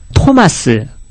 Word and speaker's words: 토마스: 그러니까 정확한 발음의 원어에 가까운 발음은 지금 가톨릭에서 쓰고 있어요. 그러니까 토마스, 예. 그 다음에, 그러니까 베드로도 페트로스, 바울도 파울로스. 이 이름이 원래 이름에 맞습니다.